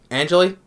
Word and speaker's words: Angeli: Angeli, they pronounce her name, which from also I remember her voicing.